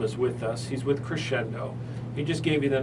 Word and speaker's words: Crexendo: He's with Crescendo.